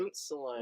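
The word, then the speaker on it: Ruotsalainen: Roastalainen? I still like... Rootsalainen. Rootsalainen. Like, I never knew how to pronounce his name, and like I hear it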